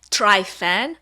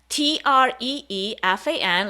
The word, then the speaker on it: Trifan: name that would be t-r-e-e-f-a-n like tree fan so that it's easier to pronounce because that's really how i would pronounce my name and three fun events